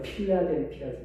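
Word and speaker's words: Philadelphia: 미국에 가면 필라델피아라고 해요. 필라델피아. 이 필라델비아 교회가 이 영문 발음으로는 필라델피아.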